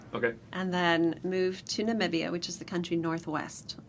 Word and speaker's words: Namibia: but they know and so that's can you pronounce it again Namibia Namibia Namibia or if you're real local it's